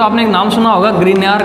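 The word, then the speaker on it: Grignard: तो ग्रीनयार नाम का साइंटिस्ट है, जिसको GRI ग्रिग्नार्ड, इसका जो प्रोनाउंसिएशन है वो ग्रिग्नार्ड रिएजेंट।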